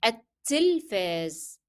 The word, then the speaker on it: التلفاز: Remember, don't pronounce the first lam in the definite article L because the following letter is a shadda letter. It is carrying shadda. It is التلفاز.